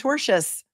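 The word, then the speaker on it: tortious: herein were unlawful and torchious. They've seen this word pronounced many ways. It is torchious. T O R T I O U S meaning of a tort and not the kind of tort that you eat.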